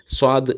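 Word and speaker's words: صاد: எழுத்து சுவாது அப்படிங்கறது வந்து அதாவது சன்னு சொல்லாம இந்த சோ அப்படின்னு தமிழ்ல சொல்லுவோம் இல்லையா சொம்பு அப்படின்னு அந்த மாதிரி அப்படி உள்ள ஒரு உச்சரிப்பு அதாவது ஸ்வ அப்படிங்கணும் ச அப்படின்னு மொத்தமா சொல்லாம ஸ்வ அப்படிங்கிற மாதிரி சொல்லணும் அதற்கு அடுத்து உள்ள லாது அதே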